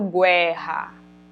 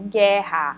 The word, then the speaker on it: guerra: Claro que não então aqui eu não falo guerra eu falo guerra Olha que o u não tá aparecendo o som